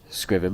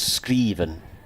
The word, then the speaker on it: Scriven: It actually should be pronounced Scriven, Scriven, because it's Danish. He's okay with Scriven, though, is he? He's okay. He says Scriven. It's been anglicised enough. But I think his dad's Danish, from memory.